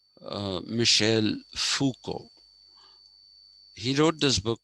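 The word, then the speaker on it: Michel Foucault: how it is pronounced he's a frenchman so just like we don't say renault it is reno uh michelle fuco he wrote this book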